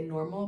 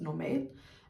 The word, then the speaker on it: Normal: store called I guess in English you would say Normal, but in Danish I believe it's pronounced Normal.